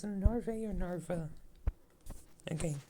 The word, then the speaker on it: Narva: It's Narve or Narva? Okay, Nerva, actually I think it's pronounced.